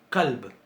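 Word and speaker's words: كلب: Una se pronuncia con qaf y la otra se pronuncia con kaf. Una es qaf y la otra es kaf. No sé si notan que la pronunciación de esta es más atrás en la garganta, ¿verdad?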